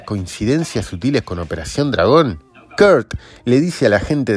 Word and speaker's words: Kurt: y el actor es Kurt Thomas sí se pronuncia así Kurt mple campeón mundial de gimnasia en la vida